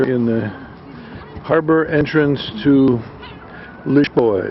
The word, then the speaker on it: Lisboa: the harbor entrance to lioa is the way the Portuguese pronounced Lisbon or liboa and here is the